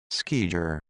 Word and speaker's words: skijor: All right, here's the official pronunciation for those that are listening. Skijer.